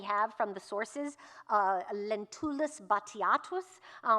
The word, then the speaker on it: Batiatus: A historical named character that we have from the sources, Lentulus Batiatus, pronounced Batiatus in the film with a kind of more British pronunciation. You will see it pronounced Batiatus and some other evocations